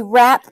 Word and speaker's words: wrap: r or rap we wrap a present the w is silent so let's rote so